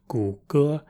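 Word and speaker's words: 谷歌: That's why Google, for example, is also commonly referred to by these two characters, which every Chinese person will know are pronounced gu ge, which comes decently close to Google.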